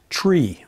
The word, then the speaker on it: tree: point instead of decimal some numbers are pronounced a little strangely to make them more distinct tree rather than three four rather than four and niner rather than simply nine zero is always zero